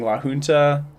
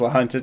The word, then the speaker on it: La Junta: I was saying La Junta. Everyone says La Junta down there. They did not like having it pronounced incorrectly.